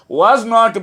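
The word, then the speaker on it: wasn't: ওকে ওয়াজ নটকে আমরা লেখার সময় লিখব, কিন্তু ইংরেজিতে কথা বলার সময় ওয়াজ নট বলবো না, বলবো ওয়াজন্ট, ওয়াজন্ট।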